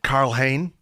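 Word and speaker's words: Karl Hein: a new signing I think we can say Carl Hayne is how he pronounce his name now that's how it's pronounced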